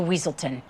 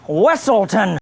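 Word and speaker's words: Weselton: And we shall send you straight back to Weaselton. It's pronounced Wessleton, which brought an already corny show to another level for me.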